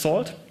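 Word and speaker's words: NaCl: It uses a networking and cryptography lib, pronounced SALT, and it uses elliptic curves for the Diffie-Hellman key exchange, 255-bit public keys.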